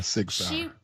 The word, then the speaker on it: Sig Sauer: Yeah, Sig Sauer.